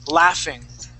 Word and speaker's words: laughing: The word is laughing. That GH makes an F sound.